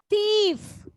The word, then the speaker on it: thief: Thief. Thief. Thieves. Okay, this is thief. F sound is there, but we are not pressing on F. Thief.